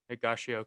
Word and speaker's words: Higashioka: Higashioka, yeah.